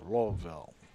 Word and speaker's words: Louisville: dude I just have to learn how to pronounce Louisville because I say Louisville other people like lville Lille Lille Lille Lille yeah well I mean